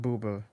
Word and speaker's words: Bubba: So they pronounce it Booba in the movie. Yeah, or Boba, Okay.